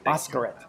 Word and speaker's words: Bhaskaran: His name is Sunil, and I don't know how to pronounce his last name. You there, Sunil? Yes, I am. Yeah, Sunil Bhaskaran. But yeah, Bhaskaran.